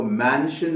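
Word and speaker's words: mention: ये शन बोलने पर, तो इसको शन जैसे मैंने अभी कहा वैसे ना कहें। मैंने जैसे कहा ना कि शन वो होता है SHUN, इसको जब बोलना हो आपको मैंशन हो गया, मेंशन हो गया, तो जब आपको ये सब बोलना हो तो आपको अपना मुंह यहां आते आते बंद कर देना है।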